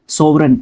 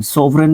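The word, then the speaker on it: sovereign: सोववरन एस ओ वी ई आर ई आई जी एन सोवरन इसको pronounce करते हैं।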